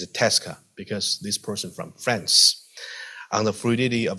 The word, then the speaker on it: Tresca: topic is about um Tesa Memoir usually we pronounce that tresa when I T students okay this a Tres Criterium but it turns out that's it's a Tesa because this person from France on the fluidity